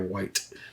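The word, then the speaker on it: wight: Is that how you pronounce that? W-I-G-H-T. Gotta be a white.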